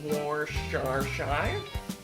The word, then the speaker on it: Worcestershire: You know, they don't teach us how to say this in the South. It's a funky British word. So you can say it Worcestershire. You can say Worcestershire or Worcestershire sauce.